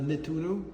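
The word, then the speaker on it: Nettuno: I'm sorry, how how was this name pronounced of this area? Uh Nituno.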